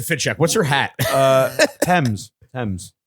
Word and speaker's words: Thames: It's pronounced Thames.